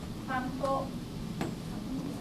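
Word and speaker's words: パン粉: In Japanese, we use mora. So there are 3 moras. Pa, in, ko. Panko, panko. How about arigato?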